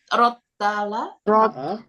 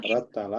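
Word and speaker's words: رَتَّلَ: Jadi Rotala. rottala. Rattala pakai tasdid.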